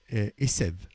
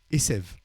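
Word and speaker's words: עשב: Esev. Hein, Asav, Esev. C'est juste l'herbe, c'est un B à la fin, et tandis que l'autre, c'est un V. Alors, dans l'herbe, c'est la lettre B est prononcée V.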